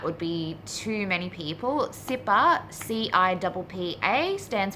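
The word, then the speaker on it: CIPPA: can't imagine that would be too many people sipper see I double PA stands for the crazy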